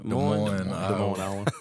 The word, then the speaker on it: Des Moines: How you said Des Moines? Des Moines? Des Moines, Oh, so the S is silent.